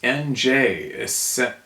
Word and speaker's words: Angers: It's NJ, essentially the N, like in French. Oh, NJ.